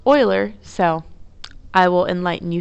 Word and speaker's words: Euler: Yes, it's pronounced Euler. I went all through college calling it Euler's theorem, and my professors looked at me like I was crazy. They failed to tell me that it was pronounced Euler, so I will enlighten you here.